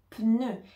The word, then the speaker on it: pneu: suivant le mot pneu pneu ici on entend le P et ensuite on a le son ne donc on entend le N et ensuite le E